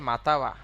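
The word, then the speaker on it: または: একটুখানি কষ্টে পড়ে যাবে তাই না শব্দটা হচ্ছে মাতাওয়া শব্দটা কি এই যে মাঝখানে যে কান যেটা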